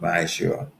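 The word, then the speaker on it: מעשר: It's tenth in the Hebrew and it's pronounced Ma'ashur.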